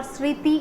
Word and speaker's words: smriti: Smriti means or smriti or sriti, you can take, you can pronounce as smriti also, that is the memory.